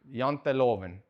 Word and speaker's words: Janteloven: Janteloven.